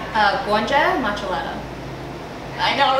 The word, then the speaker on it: Gonxhe Maqellara: of your name uh guanjang matchalata i know right so that out would also become a ch the q is a ch so maq is a ch sound like much